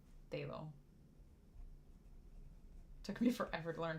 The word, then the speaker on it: phthalo: how to say this but it's the F phthalo phthalo siine blue I think most people just say phthalo took me forever to learn how to spell